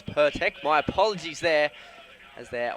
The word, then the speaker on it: Pirtek: out next with the per tech sponsorship pronounced that wrong before it's pertek my apologies there as